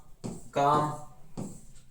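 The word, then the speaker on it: calm: फिर देखो silent L, एल भी साइलेंट होता है, जैसे एमंड, बाम, काफ, काम, चाक, कुड, फाक, हाफ, हॉक ना, पाम, Simon, should, torque, walk, would, yak.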